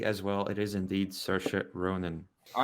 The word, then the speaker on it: Saoirse Ronan: The incredibly talented Saoirse Ronan. Okay. And they both get that point pronouncing her name correctly as well. It is indeed Saoirse Ronan.